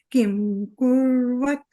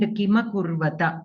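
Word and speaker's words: किमकुर्वत: And Kima Kurvata. The Makara and Takara should be completely pronounced. In Hindi, usually they cut the Akshara. They do not pronounce it completely.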